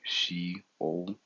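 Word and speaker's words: Sheol: and is H7 585 the transliteration is going to be shol and the pronunciation is literal she o the definition goes by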